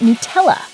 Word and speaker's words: Nutella: While some stress the "nut" part of the word, the correct pronunciation is 'new-TELL-uh'.